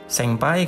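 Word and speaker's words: せんぱい: Ada ini artinya ada ini senpai kan. Nah, ketika N bertemu P atau Eng bertemu P di sini ya, N-nya berubah jadi M. Jadi senpai. Senpai, ya.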